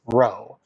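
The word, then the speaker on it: ρ: Speaking of which, that's the symbol for it, and that is the Greek lowercase r pronounced row.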